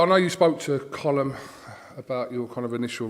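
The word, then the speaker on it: Colm: o l u MN like column like a column yeah like a Rowan column yeah isn't his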